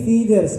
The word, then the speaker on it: feathers: Ini bukan father ya, tapi feeders.